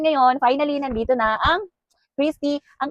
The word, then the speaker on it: Christy Ng: And ngayon finally nandito na ang Chrisy. Ang kanyang spelling ay Chrisy Nang pero ang pronunciation niya is Chrisy Ang. Chrisy Ang parang Christi Ang pero lalagyan mo lang siya ng Chrisy Ong.